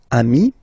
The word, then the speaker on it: amis: Even if you get to write the S, then you don't pronounce it.